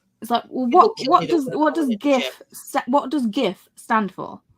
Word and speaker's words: GIF: I've got a flag with a hard G the hill that I die of yeah no yep even Kelly it's GIF it's not Jeff yes you know how